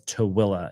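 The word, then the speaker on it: Tooele: Number one is directly west of Salt Lake City in Towilla County. And Towilla County is a really funny word. It's spelled T O E L E. T O L E is pronounced as Towilla.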